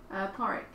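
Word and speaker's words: Pádraig: It's pronounced like that might be the spelling for Patrick. Oh, okay. So you're almost called Porrick.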